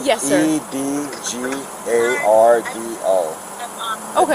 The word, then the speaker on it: Edgardo: E-D-G-A-R-D-O. Okay, how do you pronounce it?